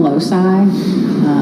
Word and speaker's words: loci: So we call them loci. LOCI is how you spell it.